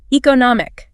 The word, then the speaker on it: economic: And for words ending in and, stress the syllable right before it, like economic.